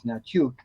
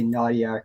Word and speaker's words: Hnatiuk: The H is silent. It's Ukrainian. Hnatiuk. The actual Ukrainian pronunciation is Hnatiuk. Hnatiuk. Which, people never say that. They say Nadiak or Nachuk or or...